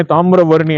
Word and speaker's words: தாமிரவர்ணி: எப்போதுமே தாமிரவர்ணி அன்னை வந்து எப்போதுமே அருள் புரிவாங்க. நான் என்னைக்குமே அந்த உச்சரிப்புங்கிறதுல இப்ப எல்லாரும் உணர ஆரம்பிச்சிட்டாங்க.